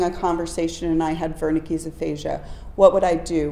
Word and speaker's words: Wernicke: my German students said it's not Wernicke's Melanie it's Verna keys and then I asked